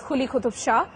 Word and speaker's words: Quli Qutb Shah: The monarch is of course Quli Qutub Shah. It's not Kh. There is something in between which you need to voice. Quli Qutub Shah.